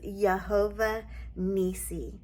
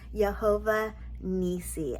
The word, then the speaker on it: Yehovah Nissi: name of God is yahovah nii Jehovah nii as previously stated in yesterday's video there is no J sound in the Hebrew language